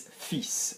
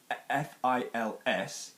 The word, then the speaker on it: fils: So the word for son is fils. This is an annoying word for learners because there is an F-I-L-S, but you are pronouncing the S.